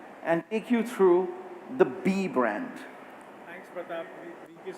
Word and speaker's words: BE: So let's first begin by talking about B. I just want to clarify again, it's spelled B-E, but the brand is pronounced B.